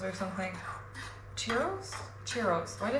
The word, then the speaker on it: churros: It's kind of reminding me of um like cherros or something. Churros. Cherros. Why do I say cheros? Man, I can't even pronounce stuff right.